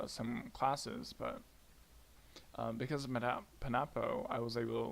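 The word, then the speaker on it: Panopto: My campus, we do this thing called Panapo. I don't know how to pronounce it. That seems the most right. Okay. It's Pan Opto.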